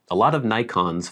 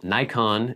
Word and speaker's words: Nikon: Nikon in Japan would be pronounced Nikon, but I'm not going to say Nikon because that would sound weird.